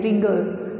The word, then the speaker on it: wriggle: किया था ना, WRIGGLE, रिगल. तो रिगल में W है बट we don't say वरिगल, right? We don't say wrinkle, we don't say write, हम नहीं बोलते because W is silent there.